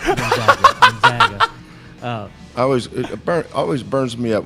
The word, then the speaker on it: Gonzaga: So it is Gonzaga.